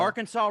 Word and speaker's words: Arkansas: job or alabama or arkansas arkansas rhymes with outlaw you